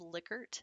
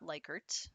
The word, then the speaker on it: Likert: and by the way it is lickert not likert that's one of those things where you can have people like roll their eyes at you if you say it wrong it's liquored because it's